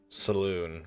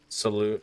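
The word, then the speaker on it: Selûne: Saloon, I believe it's actually pronounced Saluna, but it's spelled...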